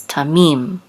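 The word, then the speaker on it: תמים: or whole tamim and this is the accent mark right here so it's tamim actions on the last of tamim so perfect complete or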